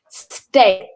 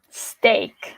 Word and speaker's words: steak: Steak. Steak. So no steak, but steak. It needs to sound like there is the letter A.